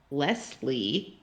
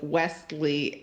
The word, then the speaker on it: Wesley: I don't already know thinks that I'm saying lesle with an L when I introduce myself yeah instead of Wesley and I hate it